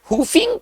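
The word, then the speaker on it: whooping: तो आप लिख दीजिएगा हु फिंग का ही प्रॉब्लम है और हफिंग एच से नहीं होगा हु फिंग डब्लू से स्टार्ट होगा छिपा हुआ है उच्चारण इसका छिपा हुआ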